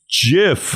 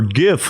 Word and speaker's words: GIF: argument it's the booze it's pronounced jiff like Jif or gif like gift it's like nobody cares